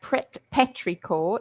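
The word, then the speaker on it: petrichor: And in the meantime, I have found the word Petricore. Uhu. What is What is it? It's pronounced Petrior in English, too.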